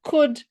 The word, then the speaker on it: could: we are not judging the L is silent. So let us practice saying could, should, would without the L.